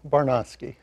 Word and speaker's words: Barnosky: pronounced your name properly that was close enough Michael it's Tony barnosky and would I be